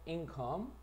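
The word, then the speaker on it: income: 인컴 강세는 앞에 있어.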